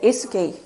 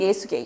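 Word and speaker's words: 예수게이: 붙여서 발음하셔야 돼요. 떨어져서 발음을 하시면 기독교인들한테 오해를 받을 수가 있습니다. 따라해 보세요. 예수계이. 예수이. 예수개이입니다. 아버지 보르직인 예수계이.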